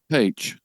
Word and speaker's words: Paich: And Rich, I'm going to mispronounce his name, but David, is it Pa is H or Posh from Toto? Paich. Paich. Paich.